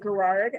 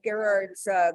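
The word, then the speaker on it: Gerhard: Is it Gerard? I think it's a hard G when you pronounce it in German.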